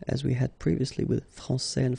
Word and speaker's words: français: Okay, so français here, you get this final S that you don't pronounce, so français, and then when you put this final E here, you will get française.